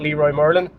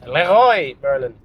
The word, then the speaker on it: Leroy Merlin: It's not Leroy Merlin. That's how I've been pronouncing it until my friend Greg said, "Ryan, this is not Leroy Merlin. It's Leroy Merlin." which means the king.